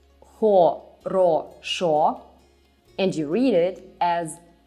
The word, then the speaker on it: хорошо: Here, in this word, the stress goes on the last syllable. That's why you read it as хорошо.